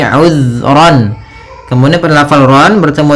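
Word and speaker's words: عُذْرًا: Kemudian ayat selanjutnya, uzran aw nuzra. Di sini uzran, hati-hati dalam pelafalan zal, usahakan di sini jangan sampai memantul, jangan uzra itu ya, tapi uzran.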